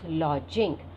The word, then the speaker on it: lodging: Lodging. Here D is silent. It is lodging, a place to live in.